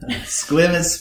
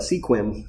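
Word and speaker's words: Sequim: swim youth skate park foundation squim sometimes people call it sequin it is yeah i call it squirm sometimes no it's a great little town and uh it's spelled s-e-q-u-i-m and uh yeah squim washington it gets less rainfall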